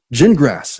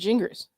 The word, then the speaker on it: Gingras: David Ginger Gin- Gin- Gingrass is the way you pronounce his name. Is it Gingrass? I thought it was Gingers. He said gin like the drink, grass like the plant.